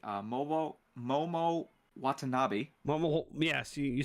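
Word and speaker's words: Momo Watanabe: have a uh word from I'm hope I'm pronouncing this correctly uh moo Momo wanabi Momo yes you said it right it's Momo Momo wavi sweet awesome with uh back when she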